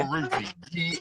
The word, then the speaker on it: Baruti: Baruti. BARUTI. 1 second, Riley.